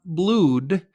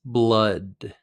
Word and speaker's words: blood: first pronunciation it's not blued it's blood not ooh but uh a lot of expressions